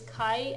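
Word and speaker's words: 会: that's out and it's the alternate pronunciation of this one is Kai as in Kawa conversation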